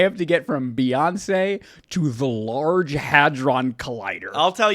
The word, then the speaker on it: Beyoncé: Beyoncé Giselle Knowles Carter, pronounced Beyoncé, Beyoncé.